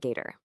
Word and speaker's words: GAITR: And yeah, you pronounce that, Gator.